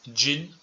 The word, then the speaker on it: jean: On prononce jean, c'est la prononciation à l'anglaise.